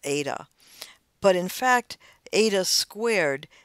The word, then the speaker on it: eta: is another greek letter it's actually kind of like the greek letter h but it's become pronounced more like a vowel eta but in fact eta